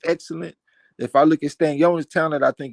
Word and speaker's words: Stanionis: And he say I always wanted to pronounce it Stanley Onus. Now it's Stanionis.